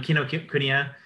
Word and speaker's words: Kinokuniya: say that kinoku kino kunia yeah um um kinokuniya has three branches and one one of them